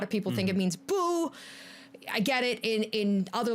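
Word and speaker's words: Bou: So R-A-E-N, rain, is a Korean syllable. Bo, B-O-U, that is how they write out like katakana, hiragana, all that stuff in Japanese to being bo. So that's why it is the long O sound.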